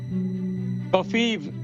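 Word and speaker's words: covfefe: Kofiv rhymes with Lviv. Sort of sounds like Kiev.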